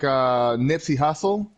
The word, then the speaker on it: Nipsey Hussle: If like a situation like Nipsey Hussle, that's how you say his name.